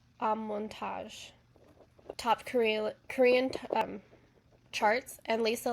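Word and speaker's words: Amortage: So online it's pronounced Amontage.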